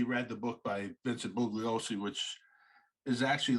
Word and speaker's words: Bugliosi: How do you pronounce that? Bugliosi.